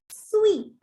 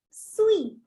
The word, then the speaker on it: suis: Je suis. Je suis. You can see I've highlighted the last alphabet S with red color. Why? Because that is a silent alphabet. You don't have to pronounce it.